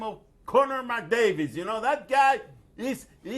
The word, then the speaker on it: Connor McDavid: You Well- mispronounced his name. Well, okay, Connor McDavid.